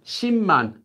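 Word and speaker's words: 십만: ten ten thousands so ship month which is pronounced as Shi month due to sound change rules I should do a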